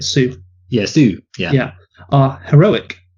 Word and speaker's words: Sioux: Bauer wrote, the problem with Costner's approach is that all of the Sioux are, that's how you say it, Sioux.